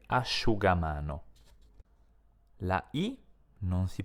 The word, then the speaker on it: asciugamano: legge evidentemente Shu come nelle parole prosciutto e asciugamano la i non si pronuncia neanche in un altro caso quando cioè